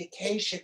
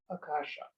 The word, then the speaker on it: Akasha: tuning into oh the acacia record jim well actually they borrowed the word and mispronounced it akasha means space or ether it's where